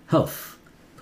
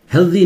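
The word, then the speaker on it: healthy: निकल जाता है हेल्थ ये हेल्थी हेल्दी नहीं द नहीं है स ऐसे यहां जैसा स है वही स रहता है हेल्थी कोई ठीक से प्रोनाउंस नहीं करता सब हेल्दी हेल्दी बोलते हैं हेल्दी वेल्दी एंड वाइज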